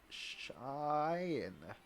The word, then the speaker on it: Cheyenne: Uh, Cheyenne. Cheyenne. She enunciated carefully. But that was a good try. Cheyenne. Teal said, drawing it out. Very good. Shorter, though. It's one vowel, which changes pronunciation midway through.